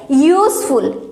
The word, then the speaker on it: useful: This also pronounced as useful.